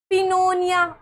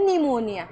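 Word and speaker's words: pneumonia: Next है यदि किसी शब्द में एन एस से पहले पी हो तो पी साइलेंट रहता है। जैसे निमोनिया। अब यहां पे पिनोनिया। ऐसे नहीं पढ़ना। इसको पढ़ना है निमोनिया। यहां पे पी साइलेंट है।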